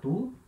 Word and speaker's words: tu: Se escreve igual ao português, né? Tu. Mas na hora de falar, vogal U. Então, som de U. Tu.